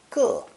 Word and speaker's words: 个: When pronounced fourth tone, 个.